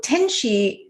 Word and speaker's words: Tenshey: So Tenshey, the pronunciation of that is the same as angel in Japanese and Chinese. And, when I started the